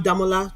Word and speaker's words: Damola: damola you will say people don't say my name is demola I'm damola okay um I'm